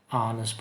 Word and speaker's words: honest: blah blah blah blah honest person. Jadi di sini adalah mencari artikel. Honest person. Honest person adalah pengucapannya dimulai dengan A. Ya, huruf vokal. Yes, vowel sound. Maka harus menggunakan an, not a.